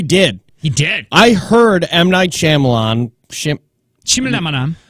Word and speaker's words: Night Shyamalan: he did I heard M night Shyamalan Chim Chim and mi Nam I think it's night oh it is yeah people never pronounce his name right it's night Shyamalan what movie I really